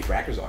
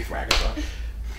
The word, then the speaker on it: Thrakkerzog: And I was thinking, and we were talking about Barry and stuff, and I went, wait, no, it'd be Thrakkerzog. It'd be absolutely Thrakkerzog.